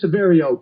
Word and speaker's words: Severio: name is basil and it gets butchered it is Saverio correct that correct are you